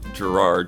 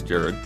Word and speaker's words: Jared: he says it yeah i said gerard but it's jared um not that i